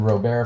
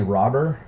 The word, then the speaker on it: Robert: there's a Louis Robert said ro-bear forever I've since been corrected on that I guess he did the video they came out a couple of weeks ago where he pronounced his name for everybody he didn't put the R on the end but he did say robber what they call him